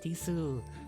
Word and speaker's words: desu: because they'll be like, no, kawaii desu, des. I feel like they don't pronounce the U in it. They just say des.